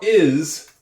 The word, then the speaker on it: is: midline nicely done how is everything do you hear the is I hear a short I sound short I is the sound I and then I hear a z and you would think